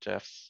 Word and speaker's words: GIF: lot of moving um gifs gifs gifs i think is technically correct but it still sounds weird to me i think it was just i i heard the creator talk about it with the soft g um so that's how i say it right jeff but yeah